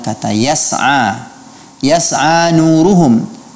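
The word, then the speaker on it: يسعى: Juga masih pada kasus yang sama pada pelafalan kata yas'a. Yas'a nuruhum. Hindari memberikan qalqalah pada huruf sin.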